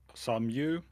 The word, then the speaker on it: Samu: your name uh like the original pronunciation is Samu okay it's kind of um like um it's pronouncing my real name with a different accent basically I gotcha like